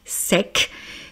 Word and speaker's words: sec: Là aussi je prononce donc EC hein, comme avec sec.